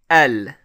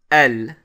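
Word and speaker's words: ال: have the alif lam and this particle is pronounced el like that basically it's an alif and the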